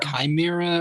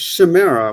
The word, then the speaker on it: Chimera: Well, it's Chimera with a sh sound, right? I at the very least pronounce her name like that because it sounds more feminine that way. But I've heard it both ways. I remember they put it in Batman Beyond. They pronounced Chimera. Yeah, I look it up. The apparently the Greek word starts with the X, which means that it would be chimera with the hard ch.